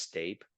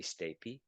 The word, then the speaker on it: stapes: stapy I I know it looks like it's pronounced stape but it's actually stapy and um the other name is the sterup